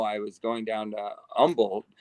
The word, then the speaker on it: Humble: was going down to Umble it's it's spelled Humble Texas but it's pronounced the locals call it Umble and I I went